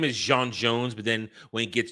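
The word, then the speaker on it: J'onn J'onzz: His real name is Jean Jones, but then when he gets turned, it's John Jones. Mhm. When you pronounce it in human, but it's Jean Jones.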